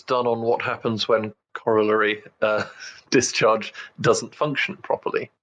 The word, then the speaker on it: corollary: should say of a brain signal called a corollary discharge I probably mangled the pronunciation of it's not like a really gross thing these were discharge and said yeah it would be Corollary thanks past Simon it is in fact pronounced